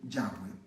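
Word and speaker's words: Yahweh: bryce estás cree que la pronunciación más correcta para el nombre que nosotros decimos jehová debió haber sido ya fue ahora quiero que noten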